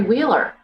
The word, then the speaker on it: Wieler: my name is wheeler sounds really like an easy name to spell it's the German Way WI e le are